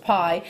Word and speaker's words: bi: actually qualify as as pie it's spelt b i if you want to look that up but it's pronounced pie and i'll tell you